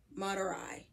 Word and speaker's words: Madurai: by Raja re variar okay madurai that's how you say it huh and this it's about